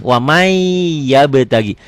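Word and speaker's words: وَمَن يَبْتَغِ: Ditulisnya waman yabtagi, latennya dibacanya jadi wamai. Nih kayak gini, wamai yabtagi. Kenapa ya-nya banyak? Karena ada idgham kan. Wamai ditahan, idgham bigunnah. Wamai yabtagi. Tulisan dan bacaannya beda. Tulisannya ada bunyi N-nya, bacaannya N-nya hilang, melebur tuh.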